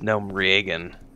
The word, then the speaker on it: Gnomeregan: oh the dreadlands i spent a lot of time there crinkled says it's gnome reagan i've heard that before i've heard it pronounced that way coffee in the morning